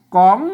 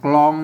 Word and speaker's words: กลอง: มัน ไม่ อ่าน ว่า กล่อง นะ ครับ อ่าน ภาษา ล้านนา น่ะ ตรวจ ลาบ ปล้น เอา มา กำ ไว้ เฉย ๆ นะ ครับ อ่าน ต่อ กะ เนี่ย ก้ำ ไว้ ให้ มัน หือเฉย ๆ นะ ครับ ออก เสียง แล้ว ก็ อ่าน ว่า ก๋อง สัญญา เนี่ย มัน พอ